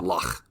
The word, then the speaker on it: loch: loch. It's lock. You need more phlegm in it.